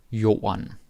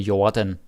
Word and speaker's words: jorden: No, but seriously, say jorden. And don't say Jordan. D is silent.